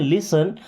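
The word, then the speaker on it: listen: देखिए यहां पे टी साइलेंट है ना? क्या पढ़ते हैं? लिसन।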